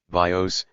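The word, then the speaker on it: βίος: the bow is given the name of Life bios the accent being this time on the first syllable and its work is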